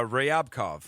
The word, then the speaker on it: Ryabkov: Um, but you have the the uh Sergey, how would you pronounce the last name? Uh, Ryabkov.